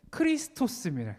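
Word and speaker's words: Χριστός: 저거를 발음 그대로 읽으면은 크리스토스입니다. 크리스토스.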